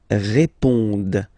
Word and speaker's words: répondent: Okay, and then the last persons here, ils répondent. So same thing here, classic ending ENT, but then you don't pronounce it.